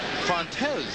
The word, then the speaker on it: Fontes: that's just like wayne wayne fox and his brother fontes his pronunciation his brother uses on the defensive staff and wayne uses fonts toby went down in